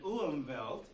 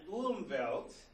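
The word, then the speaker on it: Umwelt: total experience erience an umelt is an organism's world view based on its ecological niche so it's not enough the W is W in German the W is pronounced like a V just like Hawai Havi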